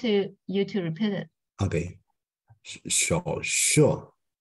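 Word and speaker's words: 手术: Again, The you pronounce correctly. I'm just want you to repeat it. Okay. 手术。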